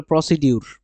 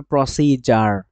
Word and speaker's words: procedure: অনেকে এটা বলে প্রসিডিউর, বাট এটা উচ্চারণ রং, আপনি বলতে হবে প্রসিজার।